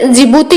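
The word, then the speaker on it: Djibouti: ये डी से स्टार्ट होता है लेकिन इसको प्रोनाउंस जिबूती किया जाता है, डी है वो साइलेंट रहता है।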